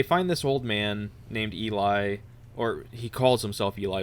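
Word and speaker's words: Ely: that he calls himself I think it's pronounced Eli okay because it was e-l-y and I was reading it as Eli but I could understand somebody saying Ellie at the same time but they find this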